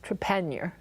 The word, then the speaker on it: Trepaniar: Lucie, let me go ahead and introduce you first, but Lucie, and your last name is pronounced Trepaniar.